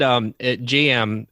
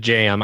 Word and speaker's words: J.M: It's the letter JM, like we would say, but you pronounce it GM.